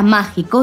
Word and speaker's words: mágico: La palabra mágico lleva tilde la letra A porque es una palabra estrújula y está siempre llevan tilde.